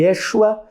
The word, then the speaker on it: Yeshua: batizo esse curso de Yeshua. Veja aí comigo no slide. Yeshua era a pronúncia no aramaico para o nome de Jesus.